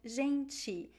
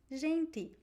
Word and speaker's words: gente: in his seaface specifically people pronounce the t and the d in a different way from the other areas uh so the word